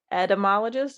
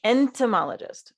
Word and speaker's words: entomologist: part of Amy's life Amy is an etymologist is that how you say it entomology entomologist okay entomologist the N is like it's either there or it isn't and I always forget it um entomologist and she